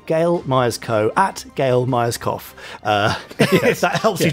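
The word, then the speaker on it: Gail Myerscough: code now uh gail g a i l myers co m y e r s c o u g h but that's not miners cough because that would be the incorrect way to say her name but a good way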